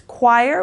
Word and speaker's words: choir: with that sound but here the H is silent so it's choir which means a group